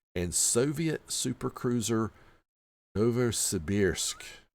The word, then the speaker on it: Novosibirsk: And Soviet supercruiser Novosibirsk. Novosibirsk. Now, you might think that sounds like an incorrect pronunciation, but it's not. That's the southern Russian pronunciation.